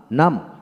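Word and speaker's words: numb: এম লিম তারপর আসেন এন ইউ এম বি নাম এন এম নাম আইপি স্পেলিং নাম তারপর আসেন সি এল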